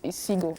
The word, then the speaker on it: Ihcego: It's 3 syllables. Isigo. That's it.